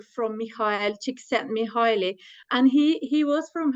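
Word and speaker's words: Csíkszentmihályi: I usually say that you can think about a small chicken who sent you hi she sent me highly so that's exactly no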